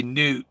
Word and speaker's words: Nut: egyptian goddess hathor or nut knew some people say newt because they don't want to say not but it's spelled nut and uh so okay